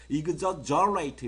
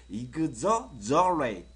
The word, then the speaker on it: exaggerate: exaggerate 이렇게 발음하는 게 정확한 거예요. 그러면 다시 발음해 볼게요. exaggerate. 다시요. exaggerate.